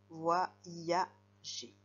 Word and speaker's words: voyager: Dans la deuxième syllabe, il fait le son I. Voyager.